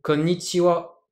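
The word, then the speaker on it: こんにちは: Konnichiwa, en japonais, la bonne intonation c'est konnichiwa.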